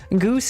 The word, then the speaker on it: GOOS: Goose is Go operating system and Gorch is Go architecture.